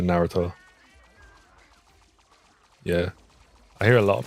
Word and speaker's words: Naruto: Yeah, it annoys me too when people say like Naruto instead of Naruto.